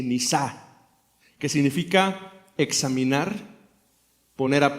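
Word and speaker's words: נסה: Y usa una palabra muy especial que se pronuncia más o menos así: nisá, que significa examinar, poner a prueba, para revelar lo que realmente existe adentro.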